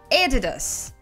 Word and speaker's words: Adidas: Этот бренд по-английски произносится правильно Adidas. Adidas. Very own Adidas tracksuit. Название этой компании пошло от имени и фамилии ее основателя. Adolf Dassler, Eddie Dassler, Eddie Dass, Adidas. Adidas. It's Adidas.